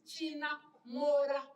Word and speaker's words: Chinamhora: China iri kunzi Chinamhora nhasi iri kutadzwa kupronounce. It's Chinamhora.